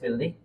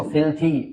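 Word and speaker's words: filthy: First word is फिल्दी। अच्छा, इसको फिल्थी pronounce करेंगे, थ का साउंड आना चाहिए, ठीक है।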